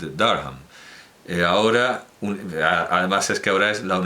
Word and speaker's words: Durham: Educado en el Colegio del Rey, en la Universidad de Durham, es que claro, si lo pronunciamos a la española sale una cosa rarísima, porque nadie dice Durham en inglés, Durham.